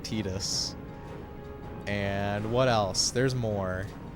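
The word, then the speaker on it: Tidus: examples of that obviously Titus is not who unfortunately not really pronounced Titus but tetus and what else there's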